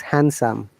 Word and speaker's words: handsome: this so it is handsome similarly sandwich yeah sandwich and handsome there is no d sound so it is handsome and sandwich though it will be